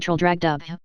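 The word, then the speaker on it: Traldragdubb: It contained a warrant for conducting me and my retinue to Traldragdub, or Trial Drogdrib, for it is pronounced both ways as near as I can remember, by a party of 10 horse.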